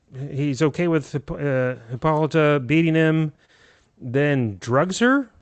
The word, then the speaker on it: Hippolyta: Hippolyta. I think you stressed the middle one. Hippolyta.